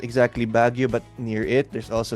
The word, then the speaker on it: Baguio: Sorry, I can't remember how to pronounce where you're from. Say it again. Baguio City.